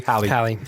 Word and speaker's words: Halle: His cast is Halle Berry. Hallie. Okay.